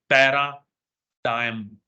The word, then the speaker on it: paradigm: ये बहुत इंपॉर्टेंट शब्द है, पैराडाइम। जी साइलेंट होता है, डाइम, पैराडाइम, अंडरस्टूड?